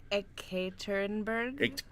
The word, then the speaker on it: Ekaterinburg: How do you pronounce? Ekaterinburg.